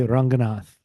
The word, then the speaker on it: Ranganath: Well, if you're one of my relatives, you'd say Ranganath.